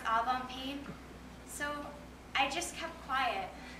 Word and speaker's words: Algonquin: And we had lunch at the Algonquin, and you complained about how Americans pronounce it Algonquin, which is pretty much how I pronounce Algonquin.